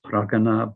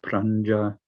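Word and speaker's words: prajñā: is that of pragana according to which part of india and so on all sorts of pronunciations pragana pranja prajna comes in quite a few words as in jhana this is sort of a ja sound ganasan ja sound which means knowing knowing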